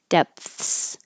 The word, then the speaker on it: depths: So if there's a delay between the vowel de and the th and then the s, depths, I know it was this word that has the p in it. If you don't stop the airflow at all, it'll sound like death, deaths.